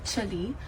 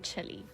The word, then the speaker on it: Chile: Today we are cruising through Cape Horn, Chile, but we're not getting off. I told you, South Africans call it Chile. I was taught to pronounce it as Chile. I know it's Chile.